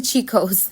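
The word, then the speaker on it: Cico's: So I said Chico's or Kiko's, but it's actually Chico's.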